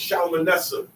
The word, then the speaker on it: Shalmaneser: In the Old Testament, it's pronounced Shalmaneser.